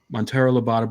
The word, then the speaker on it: Monteiro Lobato: You always pronounce it right. Monteiro Lobato, Brazil, and to do some serious effort in locating him.